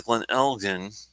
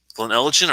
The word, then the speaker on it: Glen Elgin: barbecue thing you got the glen elgin glen elegant or glen elgin i can't remember which one it is glen elgin probably i think it's soft g correct me if i'm wrong guys i don't mind glenelgen